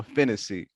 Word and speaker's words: Phinisee: what i mean fantasy r-i-c-c-o last name p-h-i-n-i s-e-e my last name rhymes with hennessy so there you go fantasy you got that down